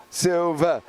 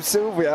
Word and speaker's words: Silva: Silva. Because for the last 5 weeks, you've called him Sylvia or Severia or something completely different to what his name is.